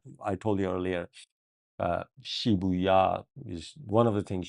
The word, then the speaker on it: Shibuya: Or she how do I pronounce it? Sh. Let me read it again. Okay, it is Shibuya. Um, good job, Shibuya.